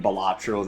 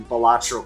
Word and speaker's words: Balatro: about to say, but isn't it pronounced Balatro? Technically, no, it's actually a Latin word that means jester or fool, and it is supposed to be pronounced Balatro.